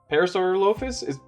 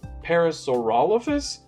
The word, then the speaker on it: Parasaurolophus: Parasaurolophus? Is that how you say it? For the longest time, I used to say Parasaurolophus, but I think that's wrong. So, yeah, Parasaurolophus.